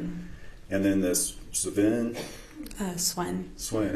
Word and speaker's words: Sven: And then this Sven? Swen. Swen. How do you say his name? Swen.